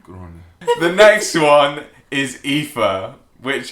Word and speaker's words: Aoife: The next one is Aoife, which, how do you say it? Aoife. Pronounced Aoife.